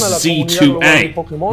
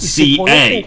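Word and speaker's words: Z-A: might be right um they're pronouncing the hyphen so it is z2a not C A yeah that that will take some time getting used to because I've been saying Za for the yeah and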